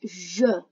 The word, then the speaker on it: je: In English, it's I, but in French, je. Be careful, the E doesn't sound like eh, it sounds like uh.